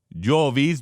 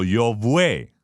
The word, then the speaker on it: Jove: Hay Júpiter, Jovis, Jove, Jovem, Jove, Júpiter. Básicamente en latín antiguo no había una V, era Vue. Entonces no era pronunciado Jov, sino Jovue.